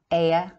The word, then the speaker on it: Iod: In the original Irish name, Hebrew is Ibrach from Iod, pronounced Ea, fire, priests of the